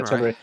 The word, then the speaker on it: Tenrai: bad stuff is Halo Infinite's first event, Fractures Tenray, or I think that's how you Tenrai, pronounce it. Yeah, Tenrai.